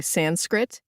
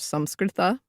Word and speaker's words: Sanskrit: Regarding pronunciation, I pronounce Indian origin terms that have entered into English with an American pronunciation, saying Sanskrit instead of Samskrita.